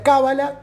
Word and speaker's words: cábala: recepción de una tradición se pronuncia cábala cuando en general con acento en la primera cuando hablamos en español